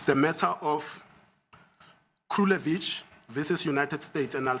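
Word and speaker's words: Krulewitch: It's the matter of Krulevich versus United States, and I'll spell it.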